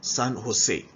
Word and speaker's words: San Jose: we will come across many spellings that will begin with letter J but will also be pronounced as y sound, like San Jose. San Jose. All right, it's spelled as in San Jose but produced as San Jose.